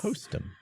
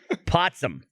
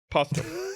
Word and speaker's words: Postum: a whole conversation based around the spreading of lies, and you pronounced it wrong, and now we all think it's called Potsum.